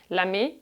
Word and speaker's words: lamé: Lamé has an accent on the E.